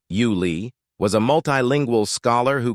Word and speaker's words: Yule: Yule Kilcher, pronounced Yuli, was a multilingual scholar who could hold a conversation in a dozen tongues.